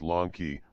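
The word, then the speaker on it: λόγχη: This name Longinus is related to the same name of the spear, in Greek Ilogka, pronounced Lonki, Latin lanza is otherwise the same root.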